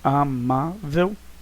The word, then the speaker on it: amável: Você vai ter de descobrir qual é a sílaba tônica. Você não precisa de regra, você não precisa de nenhum ensinamento para isso, você é um falante da língua portuguesa. Amável, amar. O ma é a sílaba tônica. Você então vai observar qual é a posição dela, é a penúltima.